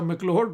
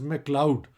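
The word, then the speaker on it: McLeod: अच्छा, मैक्लोड रोड भी हमारा तरीका है, the correct Scottish pronunciation is मैक्लाउड, लेकिन हमारे यहाँ आके ये रोड मैक्लोड हो गया, लिखा मैक्लोड ही जाता है।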